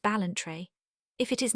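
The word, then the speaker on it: Ballantrae: It is called the master of balentry pronounced balentry.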